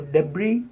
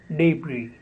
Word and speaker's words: debris: is debris or debris the last s in the spelling is silent so debris or debris the next word is